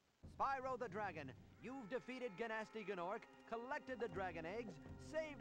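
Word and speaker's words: Gnasty Gnorc: Also, in that cutscene, I realized they actually pronounced it Ganasty Ganork.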